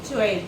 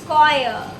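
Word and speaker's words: choir: getting new pronunciation हां चोर चोर चोर please it's कोयर कॉयर ओ माय गॉड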